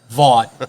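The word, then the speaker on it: Vought: Voight.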